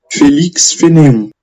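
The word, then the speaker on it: Félix Fénéon: E eu vi lá que a pronúncia é Felix Fanon. Felix Fanon.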